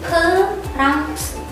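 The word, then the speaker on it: 프랑스: Prancis juga sama, di Korea itu pakai pelafalannya orang Amerika atau pakai bahasa Inggris. Kalau bahasa Inggrisnya itu kan France atau France. Di Koreanya jadi Perangse.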